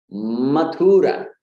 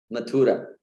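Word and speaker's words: मथुरा: Again, the tendency is to prolong and put the stress on the U.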